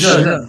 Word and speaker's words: je: Je.